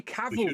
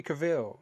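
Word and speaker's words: Cavill: Henry Caval, that's how you say his name. I've been struggling, Quinn. I don't know if you've noticed, I've been saying Henry Caval. One of your country sir, you should know how to pronounce Yeah. Yeah. Yeah. Like travel.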